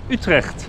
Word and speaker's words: Utrecht: Utrecht.